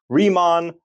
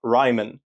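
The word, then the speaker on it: Riemann: It's remon, not Ryman.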